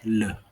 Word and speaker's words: le: you have um for masculine the would be pronounced as le and then feminine is pronounced as la and